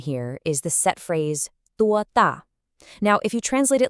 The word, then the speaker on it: 多: For 多, make sure you really round your lips to get that clean O vowel sound.